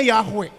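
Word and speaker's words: Yahweh: di situ Tuhan besar Tuhan besar itu dibacanya yahwe yahwe itu begini artinya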